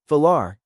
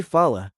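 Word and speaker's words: falar: Three. The ending R. When R is at the end of a word, it's often almost silent like a soft breath or dropped completely. Try far to speak, comr to eat. Say fala very softly.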